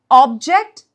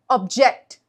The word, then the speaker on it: object: Object. Object.